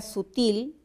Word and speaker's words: sutil: La palabra sutil es aguda porque la sílaba tónica es la última.